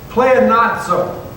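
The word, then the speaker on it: πλεονάζω: Pleonazzo. Say pleonazzo. It kind of sounds like Italian, doesn't it?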